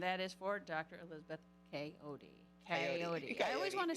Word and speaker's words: Kayode: honest with you all, in my native tongue, the Yeah. pronunciation is Kayode. Kayode. Kayode. Okay. Kayode. But to easily, for patients and everyone to say, or I mean, easily say it, I just say.